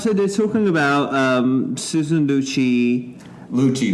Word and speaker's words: Lucci: You said Lucci, but I'm just saying Lucy. Different. Not Lucy, but Lucci. Yeah, Lucci. Susan Lucci.